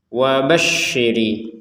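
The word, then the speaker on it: وبشر: Wabasyiri syinya ditekan.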